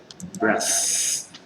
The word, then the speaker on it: breath: Ini breath tidak bergetar, letakkan tangan di Adam's apple, di jakun, kemudian di sini breathe, beda.